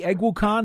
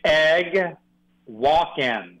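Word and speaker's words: Eguakun: what should it be it's egg Walkin like an egg walk oh egg Walkin almost like Christopher Walkin it is it's like Walkin so Kingsley is probably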